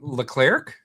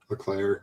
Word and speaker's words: Leclerc: All right, so we've got Hamilton and Leclerc. Leclerc. The C is silent. Leclerc. The C is silent. The second C is silent. Yeah. The first C is hard.